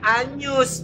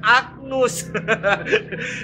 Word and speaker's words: Agnus: Jadi kalau kita menyanyikan lagu Anak Domba Allah dalam bahasa Latin, bacanya Agnus, bukan Agnus.